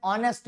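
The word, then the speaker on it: honest: ऐसे हो रही है पर एच प्रोनाउंस ना होके उसका वॉवल साउंड प्रोनाउंस हो रहा है। जैसे ही इज एन ऑनेस्ट मैन, हाँ ऑनेस्ट थोड़ी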